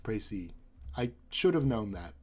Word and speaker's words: précis: Précis is pronounced Précis.